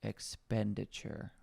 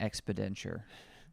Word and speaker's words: expenditure: acronym total daily energy expenditure I said it right I have a bad habit of saying expedent it's expenditure it's not expedent I don't know what